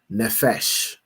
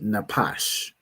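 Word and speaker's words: נפש: Right here, pronounce the word as nephesh because you know the the the Jewish man pronounce his p as a fa as an f cuz he's a fool, right? But this word would be napash, right?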